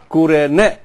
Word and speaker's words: Cyrene: And called Kurene. Kurene. Y, Cyrene, Y, spells in Y, but it pronounces U.